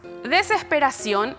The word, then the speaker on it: desesperación: Veamos, desesperación, la tilde nos dice que es aguda porque suena fuerte en la última sílaba.